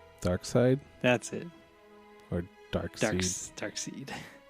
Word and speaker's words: Darkseid: Darkseid. But they call him Darkseid, but it's spelled Dark S-E-I-D.